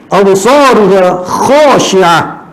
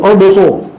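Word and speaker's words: أبصارها: Absaruha khashi'ah. Itu saya bacanya. Bukan absar.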